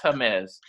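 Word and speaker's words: Jemez: j-e-m-e-z it's it sounds like james but it's pronounced hermes and it was very similar that people were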